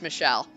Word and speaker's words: Michel: You are Michael, are you not? Then is my name, yes. Okay, so it was supposed to be pronounced Michelle.